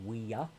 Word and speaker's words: Ouya: How you pronounce it? Ouya.